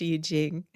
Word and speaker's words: I Ching: And basically what it was was I started reading the Y Jing which is spelled IQing but I learned recently in reading the book that is pronounced Yij Jing.